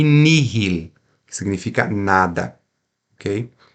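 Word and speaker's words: nihil: é mudo a gente só fala o h pronunciamos o H em duas palavras apenas na palavra Miri que é para mim e Nil que significa nada ok e o restante das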